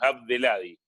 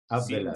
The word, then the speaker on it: Abdelhadi: Sí, sí, hay que hacer de cuenta que que la H no existe, entonces, digamos, Abdeladi, Abdeladi, sin contar la H.